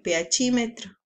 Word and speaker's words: pHímetro: Recuerda que se escribe pH meter porque está en inglés, pero se lee en español pHímetro.